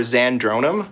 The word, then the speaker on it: Zandronum: favorite search engine for zandronum it's spelled exactly as it sounds z a n d